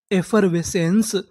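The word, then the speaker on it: effervescence: आपको पता है कि आखिरी में इ है। हमें इ का उच्चारण नहीं करना। तो हमारी पूरी मीनिंग क्या बनी? ए फवेेंस एफवेसेंस एफवेसेंस एफवेसेंस का मतलब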